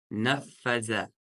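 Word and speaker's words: نَفَذَ: «Нафаза». Букву «зали» произносим межзубно. Это межзубная буква. То есть кончики языка с кончиками вверх нарисованы. «Нафаза».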